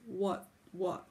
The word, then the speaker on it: わっつわつ: in English so you can just say like what what or what is what is to offer yeah